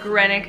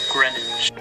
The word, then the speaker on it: Greenwich: Normally I use the Skip Hop Grenick diaper bag, or Greenwich. I have no idea how to pronounce that, so I am so sorry to insult anyone who lives there.